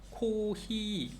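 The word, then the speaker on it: コーヒー: p 이렇게 하는 거고 코히 F 바람 커피라고 할 때는 히읗 발음으로 한다고 생각을 하면 된다고 합니다 나이프 카페 카페 카페 이런 식으로 F 발음을 히읗 발음으로 한다고 생각을 해라 그래서 커피 이렇게 표현을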